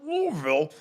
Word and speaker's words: Louisville: So on to Louisville. You have to say it like you're constipated, but four ACC teams in out of the 16.